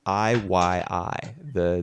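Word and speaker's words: Ii: Is it Iyi? It's Iyi, the name of the E. clan.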